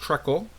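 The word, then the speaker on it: treacle: and bags on pallets uh triacle which is pronounced tle and what trle is is a British term for molasses so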